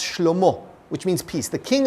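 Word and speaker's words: שְׁלֹמֹה: His son, Solomon, which in Hebrew is pronounced Shlomo, which means peace.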